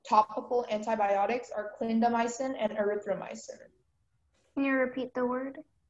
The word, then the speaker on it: erythromycin: Erythromycin is the only pronunciation.